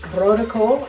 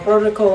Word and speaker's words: rode kool: with mashed potatoes and vertical on the side. Uh, vertical is red cabbage, but uh for Americans, the way it's spelled is road cool.